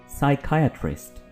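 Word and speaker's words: psychiatrist: इसको हम साइकियाट्रिस्ट नहीं बोलेंगे बल्कि हम बोलेंगे साइकियाट्रिस्ट, साइकियाट्रिस्ट। इसमें पी प्रोनाउंस नहीं होगा।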